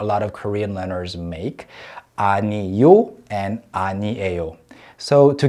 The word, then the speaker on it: 아니요: yeah man yeah and no is new yo three syllables whereas new a yo